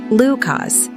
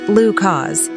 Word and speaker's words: Lucas: In some cultures, it's pronounced Lucas, and in others, Lu cause, but both pronunciations are lovely, and the name maintains its essential character.